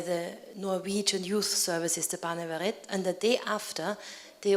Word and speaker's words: Barnevernet: want to learn, and this is Barnevernet. Am I saying it rightly? Yes.